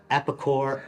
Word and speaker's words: Epikore: 2024 they have released epicore and rubic cor and as you detect from that last syllable there core all trickle down